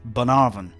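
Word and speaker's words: Bunnahabhain: spelling with an abundance of consonants is actually pronounced banaran which can be quite misleading when you hear people talking about this rather mellow surprisingly light whiskey like its fellow I malts Ben arvan does have a characteristic saltiness imparted by its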